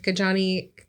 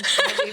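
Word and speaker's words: Ketanji: Well, that's the same with the Supreme Court with Kajani Brown. I don't think that's right? I don't think that's how you say her name. Katani. There's a J in there.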